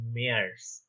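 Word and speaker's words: März: March আমরা normally ইংলিশে বলি, কিন্তু ওখানে ওটা হয়ে যায় মেয়ার্স।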